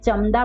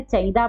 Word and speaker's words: चंदा: क्योंकि यहाँ द है, और द कौन से वर्ग में आता है? त वर्ग में, और त वर्ग का अंतिम वर्ण न है, इसलिए इसका उच्चारण क्या होगा? न। क्या पढ़ेंगे हम इसको? चंदा।